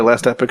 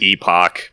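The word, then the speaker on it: Last Epoch: this is their empire game's ruin go play last epic instead last what epic that's how it's pronounced is it yep i always pronounce it epoch because like when i epoch is actually a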